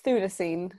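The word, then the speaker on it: Chthulucene: how to pronounce uh shoot lesson or i never know how to pronounce it properly it's a it's a silent ch so it's thu so it's thuncine okay yeah okay i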